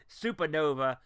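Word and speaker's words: Supanova: One, Supernova, spelled like gangsta style, S-U-P-A, Supernova.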